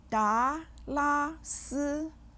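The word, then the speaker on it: 达拉斯: 达 with the 2nd tone, 拉 with the 1st tone, and 斯 with the 1st tone. Each syllable of 达拉斯 has a simple final.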